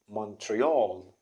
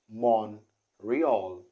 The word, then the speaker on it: Montreal: pronounced it's a surprising the t isn't pronounced okay and the stress is stressed out is at the first syllable okay so what we're gonna say is mon real monreal monreal monreal so